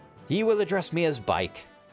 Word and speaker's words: Bikke: He will address me as Bike. Some pronounce it Bikke, but I pronounce it Bike.